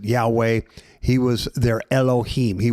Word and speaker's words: Yahweh: The Old Testament, he revealed his name, and we pronounce it Yahweh.